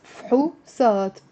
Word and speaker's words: فحوصات: فحوصات. 2 syllables.